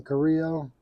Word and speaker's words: Carrillo: It's the EP Carrillo or Carrillo. A lot of people say it. I think you pronounce his name Carrillo.